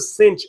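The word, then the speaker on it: sinh: the negative x all over 2 it is pronounced H so this is the Cinch of X ascention X hyperbolic cosine is pronounced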